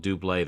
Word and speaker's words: Double: And And the main reason I say that is because there was that song, it's spelled double, but I think they were called Dubé.